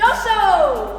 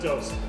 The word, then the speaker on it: dos: Doso! Is that how you say it? Something like that? No. No? Yeah, just dose.